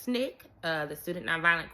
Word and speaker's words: SNCC: civil rights organization um this new group pronounced Snick uh the student non